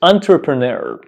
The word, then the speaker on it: entrepreneur: long and also difficult to pronounce the correct pronunciation of this word is entrepreneur entrepreneur entrepreneur entrepreneur but what does it it